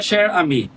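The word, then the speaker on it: Cher Ami: Hay un héroe oculto llamado Sher, ¿cómo se llama? Sher, no sé si se pronuncia así porque es francés y ese idioma es complicado, pero así se lee, ¿no?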